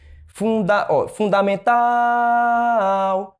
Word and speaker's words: fundamental: Fundamental, fundamental. Ele disse que a sílaba tônica era o fum. Então, está incorreta, tá? A sílaba tônica é tal, certo?